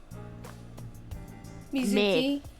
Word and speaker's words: Mizuki: M-I-H is the first syllable. Mizuki?